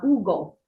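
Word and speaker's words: Hugo: it's called the uh ugal it's with an age but in it in Italian they don't pronounce the a age obviously the ug which is again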